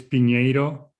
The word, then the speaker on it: Pinheiro: So it's Pinheiro.